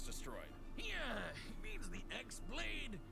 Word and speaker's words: X-Blade: Yeah, he means the X-Blade. It's just pronounced like Keyblade, even though it's just one Keyblade.